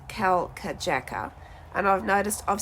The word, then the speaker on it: Kalkajaka: the name of the mountain wrongly it is pronounced Cal K Jacka and I've noticed I've said Cal Jacker a lot during the video so I just